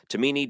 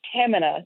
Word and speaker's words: Tahmineh: it right next time well you actually nailed my last name pretty well but it's Tamina Tamina thank you so